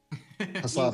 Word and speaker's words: Hassabis: Hassabis.